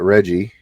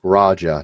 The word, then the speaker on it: Raja: I've gotten is that Reggie, um, I hope I'm pronouncing his name right. I apologize if I'm not. Raja, not Reggie. Sorry. Raja, sorry, not Reggie.